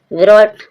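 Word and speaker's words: brought: What, what means, hello guys, what, what means, what, what means खरीदा, GH silent है। Coat, coat means पकड़ा, coat, coat means पकड़ा। ब्रोट, ब्रोट means लाया।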